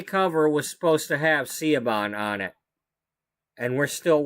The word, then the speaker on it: Siobhan: And to make matters worse, Siobhan Fires, and that's how I pronounce her name in this game, Siobhan Fires of the Paragons,